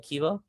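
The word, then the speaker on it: Keeva: k-e-e-v-a oh so we i see it like kiva yeah oh okay cuba i'm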